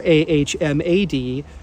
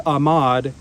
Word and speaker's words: Ahmad: The media's been printing it as Ahmed, A-H-M-E-D, or A-H-M-A-D. Ryan and I checked with our friend Naif in Lebanon, and Naif said, no, it's actually Ahmad, but the way Arabs pronounce it is Ahmad without H, right?